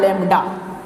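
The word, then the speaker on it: lambda: Wavelength को दर्शाया जाता है एक सिंबल से, देखिए ये, इसको बोला जाता है लैम्डा। लैम्डा, हिंदी इंग्लिश दोनों वाले लैम्डा का उच्चारण करेंगे।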